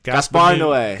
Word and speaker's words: Gaspar Noé: Gaspar Noé. That's how you say it.